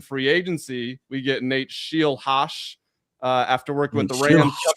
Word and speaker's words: Scheelhaase: It's Nate Scheelhaase.